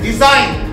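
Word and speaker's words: design: জি এন পাশাপাশি থাকলে জি এর উচ্চারণটা হবে না। যেমন এস আই জি এন, সাইন, এখানে কি জি এর উচ্চারণ হলো? হলো না। ডি ই এস আই জি এন, ডিজাইন, এখানে জি এর উচ্চারণ হলো?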